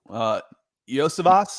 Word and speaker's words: Iosivas: And then, one of the guys to watch as a developmental guy is Andre Iosivas. Is that how you pronounce his last name?